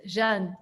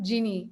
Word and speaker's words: Jeanne: it was strange jean how do you pronounce actually your name jean or jeannie well in france it's jean i know in france but what about in the space um no i was born genie um my my parents